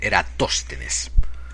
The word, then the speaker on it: Eratóstenes: directamente de inglés y en inglés se escribe Eratóstenes. Así que acabo de hacer una podrida pausa en el podcast para buscarlo en el Google y se dice Eratóstenes.